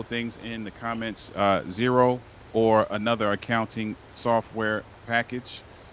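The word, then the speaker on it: Xero: put a couple things in the comments uh zero or another accounting software package uh for those who don't know I think I pronounced that correctly x e o is accounting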